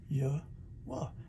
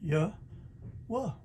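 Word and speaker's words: Yahweh: down that sound down which is equivalent to our english yhwh which is pronounced yeah well and i'll have the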